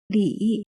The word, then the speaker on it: Li: The letter L here is pronounced as Le, and the letter I here is pronounced as Yi.